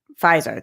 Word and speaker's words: Pfizer: Garth says it's pronounced Pfizer. That's what I said, right? F-I-E, Phi, like pie, Z-E-R, Zer, like Zer.